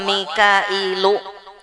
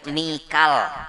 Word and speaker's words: Mikail: Wa Mikailu bisa juga dibaca Mikal, bisa juga Mikal ya orang-orang bacanya Michael.